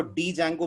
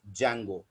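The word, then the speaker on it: Django: इसमें डी याद रखिएगा साइलेंट होता है, तो इसको डी जैंगो मत पढ़िएगा किसी के सामने। इट is always pronounced as जैंगो। इसको हमेशा जैंगो के नाम से पढ़ेंगे।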